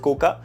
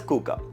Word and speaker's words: Coocaa: hd 2022 kuka tv yes it's written as koka but it's pronounced as kuka now there are a couple of things about